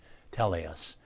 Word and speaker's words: Telios: Uh, Telus, by the way, is spelled T E L I O S. Tellus, Telus Law.